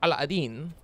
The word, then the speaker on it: Aladdin: pronounce my first name in the original Arabic pronunciation as best as I can like I don't actually prend to be good at Arabic at all but it's um it's four syllables Aladin and then I will